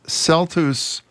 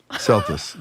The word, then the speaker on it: Celtuce: Celtuce. Well, that got Corby speechless. Yeah, it sounds like justice.